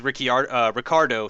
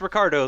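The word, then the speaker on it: Ricciardo: was ricky ricardo sorry i'm gonna make a conscious effort to try to start calling him ricardo um because he apparently has said that's how it's pronounced so if he says it's ricardo then i'm gonna call him ricardo um but uh he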